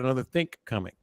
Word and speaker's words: another think coming: day-to-day vernacular but uh the proper way to say it and people a lot of people don't know this is you've got another think coming well according to Hughes